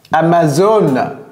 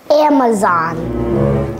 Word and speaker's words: Amazon: Amazon. Amazon. Amazon. Thank you. Et vous voyez, son A, ça fait un. Amazon. Et ça, c'est zone. Zone, c'est pas zone. Amazon.